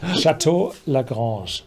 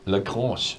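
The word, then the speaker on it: Château Lagrange: first is a French language task for you, pronunciation. Le grand le French or Paris. So how do you say it really? Chateau Lagrange. Lagrange.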